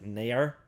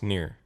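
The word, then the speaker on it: Nier: by the japanese and also near i think would be like nair or nair no it's near i think if you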